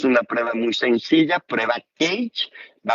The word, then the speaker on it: CAGE: a enseñar esta prueba llamada CAGE o CAGE, si la pronunciamos en inglés, porque en inglés tiene estas siglas en cada pregunta, y son muy fáciles.